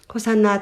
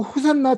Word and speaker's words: 호산나: 백성들은 큰 소리로 호산나 다윗의 자손이여 라고 외쳤는데요. 이 호산나는 당신께 구하오니 우리를 구원하소서라는 뜻입니다. 히브리어 호시아나의 아람어식 발음으로서 초막절 의식에서 제사장들이 암송했던 시편 118편 5절에 등장하는 구절입니다.